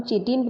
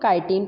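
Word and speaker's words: chitin: यहाँ पे दोनों प्रोनाउंसिएशन होते हैं इसको, या तो हम चिटिन प्रोनाउंस करेंगे या तो हम काइटिन प्रोनाउंस करेंगे।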